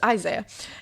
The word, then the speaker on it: Isaiah: see my best friend, Isaiah, pronounced like Isaiah. Thank you for that. So it's Isaiah.